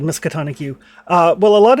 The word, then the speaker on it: Miskatonic: libraries yep okay well Miss Peconic University or how are you pronounce it yeah good old miskatonic you uh well a